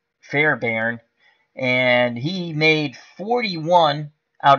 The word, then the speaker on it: Fairbairn: it's ka i am i t a me Fair barn Fairbairn and he made 41 out of 39 extra